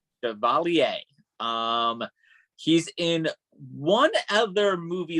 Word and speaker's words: Chevalier: How do you pronounce it? Maurice Chevalier. Chevalier.